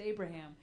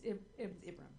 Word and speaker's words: Ibrahim: I just don't know how to say it because my mind just goes to Abraham. Yeah. And it's Ibrahim. It's Abraham with instead of A's.